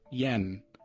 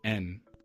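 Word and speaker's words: 円: So, when we're when we're in Japanese when we're talking Japanese, it is not yen. It is en.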